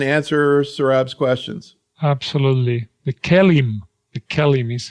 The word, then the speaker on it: KELIM: The KELIM is how we pronounce that. KELIM, right.